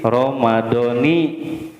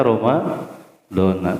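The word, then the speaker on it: رمضانَ: hadihi sanati lillahi taala Ternyata kita salahe bacanya Roma dhona Kenapa lebih baca Romadhoni ternyata ini Innova tadi aturannya Awas ya aturannya dalam bahasa Arab Isim ghoir munshorif itu ketika dijejerkan itu dengan Fatah itu ya Selama dia tidak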